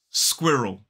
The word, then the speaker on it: squirrel: It is squirrel. 2 syllables, the stress falls on the first.